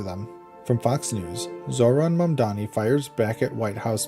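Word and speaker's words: Mamdani: Zoran Mdani, New York City mayoral candidate, clapped back after the White House mispronounced his name as Zamani in a viral Tik Tok set to hollowback girl.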